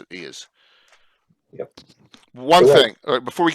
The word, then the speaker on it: Eos: I'm going to pronounce the way we pronounce it. Eos.